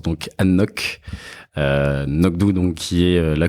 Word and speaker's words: anCnoc: un single malt alors qui s'écrit a n C n o C mais qui se prononce ça se prononce donc Anok nockdou donc qui est